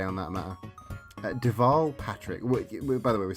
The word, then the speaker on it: Deval: rhymes but it also teaches you how to pronounce Deval because you could say devil or Deval uh but Deval for all that's good but we're